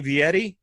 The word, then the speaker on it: Vietti: I have over here on one square up here at the top that you have Vietti. Is that correct? Is that how you pronounce it?